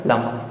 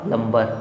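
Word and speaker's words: plumber: इसी प्रकार से दिया प्लमर प्लमर प्लमर प्लमर प्लमर नॉट प्लंबर प्लंबर नहीं प्लंबर रंग प्रोनंसिएशन है इसमें बी साइलेंट हो रहा है क्योंकि ये एम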